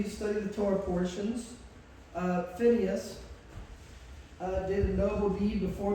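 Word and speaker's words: Phinehas: Now, Eleazar has a son named Pinhas, or I pronounce it Phineas, and it says in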